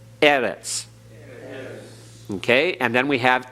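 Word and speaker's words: אֶרֶץ: over the first syllable so we emphasize that first syllable Eres okay and then we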